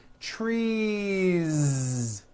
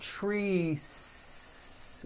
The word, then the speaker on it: trees: true Tre or two trees it's not trees with an unvoiced S it's trees with that vo ending you see that another